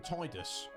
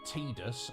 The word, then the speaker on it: Tidus: um yeah uh yeah i call him tidus because again it looks like that's what his name should be not tedus i guess that's again